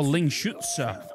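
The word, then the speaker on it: Lingxuzi: Oh, Ling Shutsa. That's the way you say his name.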